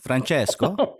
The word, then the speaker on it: Francesco: Francesco. Is that the good pronunciation?